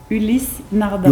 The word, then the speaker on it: Ulysse Nardin: Ulysse Nardin.